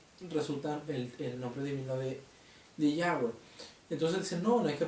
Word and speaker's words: Yahweh: Las cuatro consonantes que en fonética resultan el nombre divino de Yahweh. Entonces dicen, no hay que pronunciar el nombre divino porque la Torah dice